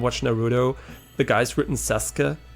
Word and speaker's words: Sasuke: Naruto, the guy's written Sasuke, right? Sasuke, right? But actually it's pronounced Sasuke, right? You don't pronounce the U, but you have to know that.